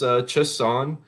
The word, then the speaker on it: Chasson: So I think her pronunciation is Chasson, and they weighed in today.